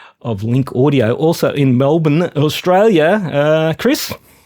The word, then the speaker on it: Melbourne: uh Chris Mann of Link audio also in Melbourne Australia uh Chris how you doing did I say that correctly yes Melbourne how you doing man I'm going very well